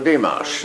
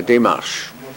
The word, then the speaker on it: démarche: But no, he is, you see, in French it's something you call a démarche that he is interested in. Dimash? A démarche.